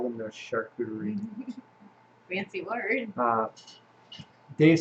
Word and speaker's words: charcuterie: Mark says pronounced charcuterie.